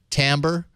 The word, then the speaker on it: Timbre: way to do it tambour it's cut join convert mp3s as TI m bre if you're doing a search for it even though you pronounce it Tambor but there you go